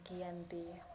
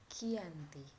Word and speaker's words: Giyanti: lokasi penandatangan perjanjian yakni di desa Janti dalam pelafalan Belanda Oh iya tersebut sebagai Giyanti dan secara tertulis ia terbaca sebagai Giyanti di tempat tersebut sekarang